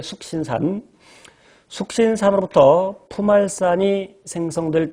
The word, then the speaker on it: 숙신산: 2번 석신산. 미국놈들은 그렇게 발음하겠지만 우리 편하게 숙신산.